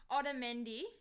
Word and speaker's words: Otamendi: Otamendi.